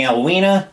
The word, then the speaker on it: Elwina: And when you're pronouncing Elwina, the I in L's name is long.